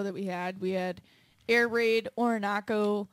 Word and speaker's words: Orinoco: So this Cobra Lounge show that we had Air Raid, Orinoco, That rhymes with foreign taco.